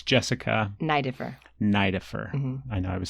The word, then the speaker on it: Neideffer: matter what so yeah always E before I in German is pronounced I are you German it's